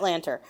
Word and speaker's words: Lanter: Matt Lanter? Is it Lanter? I believe it's Matt Lanter. Yes, Matt Lanter, who obviously did Anakin's voice in Clone Wars.